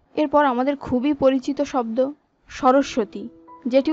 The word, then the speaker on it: সরস্বতী: এরপর আমাদের খুবই পরিচিত শব্দ সরস্বতী, যেটি উচ্চারণে আমি নিজেও আগে ভুল করতাম, এর সঠিক উচ্চারণ হবে সরস্বতী।